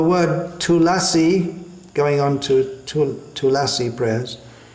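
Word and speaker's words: तुलसी: on to Tulasi prayers, in Sanskrit it's pronounced Tulasi, in Bengali, well in Hindi it's pronounced Tulsi, or in Bengali Tulshi, but that's alright when we're singing the Bengali song, but in the Sanskrit prayer that we chant, first of all, it should be Tulasi. Vrindayai Tulasi Devyai.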